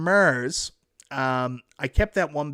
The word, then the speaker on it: Mars: attack from Mars I I gotta try to say it right because I say MERS but attack from Mars um I kept that